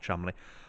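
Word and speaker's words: Cholmondeley: a relict of thomas chumley as it is pronounced chumley of holford esquire and daughter of edward holland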